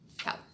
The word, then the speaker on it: Kali: Kali, yeah. Cal or Carl? Cal.